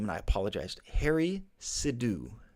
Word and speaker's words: Sidhu: bit here the Anaheim mayor I'm going to mispronounce this name and I apologized Harry sidhu sidhu s-i-d-h-u sidhu I apologize if I've really butchered